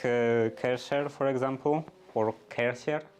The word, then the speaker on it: Kärcher: Like Kärcher, for example, or Kärcher is, I believe, the proper pronunciation, proper German pronunciation.